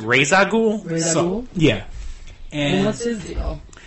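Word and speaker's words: Ra's al Ghul: ra I I say I always pronounce it razag but in a movie they pronounce it ragul yeah and what's his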